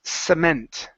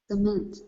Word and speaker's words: cement: Okay, here instead of comment, this word is pronounced cement. Cement. With an S sound.